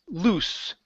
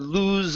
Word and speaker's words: loose: Let's go to the word loose. Okay, instead of lose understanding, it's an unvoiced S.